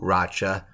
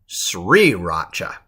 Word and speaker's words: sriracha: how to pronounce it not to racha but sriracha sriracha sriracha sauce sriracha